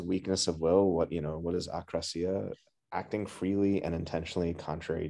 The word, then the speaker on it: akrasia: Yeah, I believe it's akrasia. Like when I've heard. Like akrasia, like a, like akrasia. The prefix, like against, like I think it's, and then krasia, I believe is will or is, so when I've heard it spoken about, I believe that's the correct pronunciation.